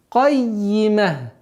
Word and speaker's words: الْقَيِّمَةِ: Кайима. Динуль кайима. Удваиваем с касрой.